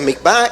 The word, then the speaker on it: mikveh: Y a veces se escribe mikveh, se pronuncia mikvah, y es necesaria para conversión.